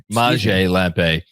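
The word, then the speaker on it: Maciej Lampe: It's pronounced Maj Maj Lampe.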